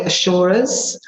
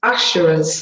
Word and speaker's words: asura: I've heard people say assurers assurers asuras lots of different ways of pronouncing it choose your way you could call them Titans you